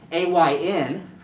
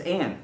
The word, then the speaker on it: Ayn: The example I had was, I thought A-Y-N for the name, I thought it was Ayn Rand, was how we pronounced her name, the author and philosopher, essentially. But it's Anne.